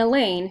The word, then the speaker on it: Elaine: Meet Aldo, who has anger management issues, Parker, who can't read, Kiana, who doesn't belong in the class, and Elaine, who rhymes with pain.